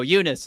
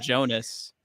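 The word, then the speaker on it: Joonas: No, Eunice, his first name. I think I've always said Jonas. But I learned it was Eunice today.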